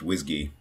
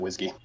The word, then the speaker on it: WSGI: have heard it pronounced whsy yeah I pronounce it Whiskey yeah me too uh